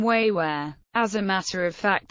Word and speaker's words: 维吾尔: The Chinese used to call them Chantiao, but this term has been dropped, being considered derogatory, and the Chinese, using their own pronunciation, now called them Wéiwúěr.